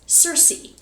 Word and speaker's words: Circe: I will say, though, I keep wanting to pronounce this like cirque, like circle or circus, but no, I have been reliably informed that this is Circe. That's how you pronounce that.